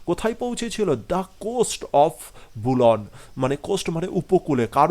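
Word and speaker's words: Boulogne: And reaching the coast of বুলন, এর উচ্চারণটা কি আমি এখানে লিখে দিয়েছি, বুলন।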